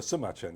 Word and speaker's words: Sima Qian: Uh well, Simma Chen, you'll have to read the book. There you are. There's a copy over there. Um Simen as you know, or Sumachen as you could correctly pronounce it.